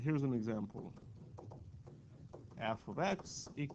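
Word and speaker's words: f(x): function notation so we use this notation that's pronounced as F of X this is how you call this not a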